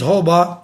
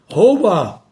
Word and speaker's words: roubar: Muita gente diz roubar, não. Roubar.